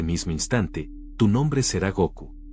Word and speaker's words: Goku: instante, tu nombre será Goku. Pronunció las dos sílabas con claridad y una solemnidad alegre. Go, como la fuerza que te trajo aquí, y Ku, como el cielo del que caíste.